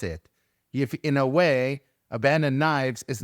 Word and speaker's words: Abaddon: It's pronounced Abaddon. Abaddon. Oh man, I didn't know that. I thought it was abandoned.